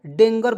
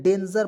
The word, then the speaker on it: danger: तो इसे पढ़ेंगे दोस्तों डेंगर। बहुत लोग पढ़ लेता है, क्या पढ़ता है कि डेंगर? बिल्कुल गलत है, डेंजर पढ़ेंगे दोस्तों, DEN, डेंजर। जी का उच्चारण ज के रूप में करेंगे, डेंजर।